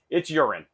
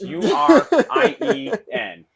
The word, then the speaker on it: Urien: It's Urine, buddy. It's Urien. They just moved the E.